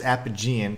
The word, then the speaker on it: Apigean: See, yeah, she says Apigean, kind of like Hippogean jail in Bloodborne. I think that's the more proper, appropriate pronunciation, but one of the other characters is Apogean, and that's why I